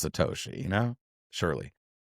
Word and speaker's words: Satoshi: He calls um he he always says Satashi. I'm like surely he knows how to pronounce Satoshi, you know.